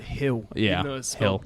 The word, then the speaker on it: Gil: I don't care yeah they pronounce it Hill Gil well I think he's he's Spanish Spanish so that makes sense today Spanish 101 yeah yeah g equal G equal H um what is it